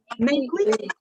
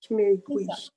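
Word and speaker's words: 玫瑰: Rose en chinois, c'est meigui, c'est ça? Comment vous prononcez? Meigui. Meigui.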